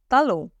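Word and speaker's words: talon: है heal in French heal इ तालो लो again मैं आपको दोबारा बताती हूं फ्रेंच में टी को त प्रोनाउंस करते हैं ओके तल नेक्स्ट वेस्ट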